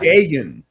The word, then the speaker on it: Dagon: Dagon.